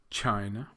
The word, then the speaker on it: China: You may have noticed that the last 2, Brazil and Japan, have the stress on the second syllable, whereas the first 3, Russia, Thailand, and China, have the stress on the first syllable.